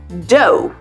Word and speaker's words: dough: The first pronunciation is like O, just like in the word no. And this is how we pronounce words like although, thorough, and dough.